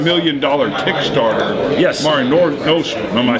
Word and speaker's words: Mare Nostrum: Mare Nostrum.